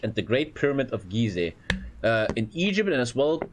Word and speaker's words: Giza: They're pronounced Gizeh, not Giza. Are they? I don't know. In Germany we say Gizeh, so fuck you. You're pronounced wrong.